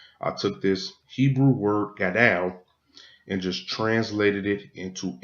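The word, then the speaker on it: גָּדוֹל: This is H1419, and this is the Hebrew word that word great is translated from, and you will pronounce this gadal.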